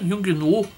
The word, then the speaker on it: Yongnuo: Claro que ele não é um flash profissional, um flash Yongnuo, né? Yongnuo, acho que é assim que pronuncia.